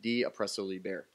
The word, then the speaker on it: De Oppresso Liber: The Green Beret motto in Latin is pronounced De Oppresso Liber.